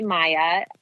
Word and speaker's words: Mya: Either on Instagram, which is Maya, which is spelled interesting, M-Y-A, not M-A-Y-A.